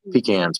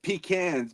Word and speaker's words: pecan: eventually I'm gonna have pecans planted on. So I have a bunch of Nice. pecan trees. I love how you said pecans because people up north pronounce it pecans, which is completely wrong.